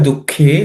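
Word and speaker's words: दुःखे: Dukkhe, again the same ka, aspirated.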